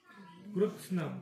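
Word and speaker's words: कृत्स्नम्: धर्मे नष्टे कुलम कृतनम कृत्सन कृष्णम नाहीये ते कृत कृत अर्थात कृत्सन तो म पण जो आहे तो हलंत करायचा म्हणजे तो मधला जो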